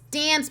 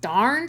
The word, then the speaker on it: Dance: It's Dance, but it's pronounced Darn.